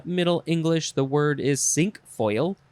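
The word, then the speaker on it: cinquefoil: is sink foil or sunk foil i think song foil is probably more appropriate c c-i-n-q-u-e-f-o-i-l is it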